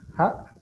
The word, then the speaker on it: ja: la palabra ja, así la pronunciación ja, que tiene como una parte cortante, significa agua.